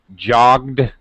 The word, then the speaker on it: jogged: has a t sound jogged has a D sound but we got to